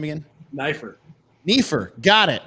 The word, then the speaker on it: Neiffer: how do you say your last name again knifer Neer got it momy I want a